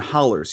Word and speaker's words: hollows: the mountains hills and hollers yes the hollows are pronounced hollers uh yeah people will correct you on that okay if you are